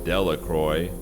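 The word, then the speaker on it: Delacroix: Bobby and Harry Jones and Dicky Delroy, the villagers pronounced this name Delacroy, eventually made a great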